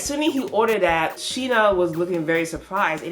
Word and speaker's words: Shiina: I said Shinikura. Shiina. They say his name once, the hot guy. That's his name, Shiina.